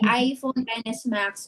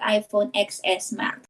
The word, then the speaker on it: iPhone XS Max: pronouncing it wrong um it was supposed to be iphone xs max but not iphone xs mac so here in the